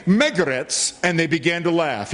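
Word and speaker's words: Magarac: Well, Majorak means something too. In fact, it's pronounced Megaretz. And those people heard that name, Megaretz, and they began to laugh.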